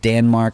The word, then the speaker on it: Danmark: right now Denmark and yes I said Danmark because that's how they say it and Switzerland are playing